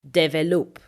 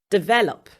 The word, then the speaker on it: develop: People would usually say develop. No, it is develop.